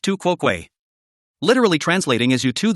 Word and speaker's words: tu quoque: Pronounced tu quoque.